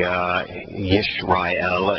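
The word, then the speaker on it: ישראל: Yeah, because it's actually Yishrael. It's the proper pronunciation is with the Y. It's not. It's been transliterated into English with an I, but it is. It's the same letter as in yes as Yishrael, so it's just as in Yahowah.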